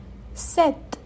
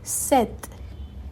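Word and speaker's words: sept: सिक्स सीस सीस seven सेथ से पी साइलेंट है।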